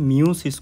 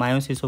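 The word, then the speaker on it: meiosis: মিওসিসকে অনেক সময় তোমার মায়োসিসও বলা হয়ে থাকে, তো ওইটা নিয়ে সমস্যা নেই। ইংলিশ বানানটা তোমার এমআইও, তো এমআইও দিয়ে শুরু, তো একে কেউ মায়ো বলে, আবার কেউ মিউ বলতে পারে, সমস্যা নেই।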